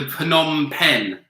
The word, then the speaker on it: Phnom Penh: h n so / Phnom Penh phenom penh is the capital of we're pretty sure about the pronunciation although it's a Phnom Penh with other I watched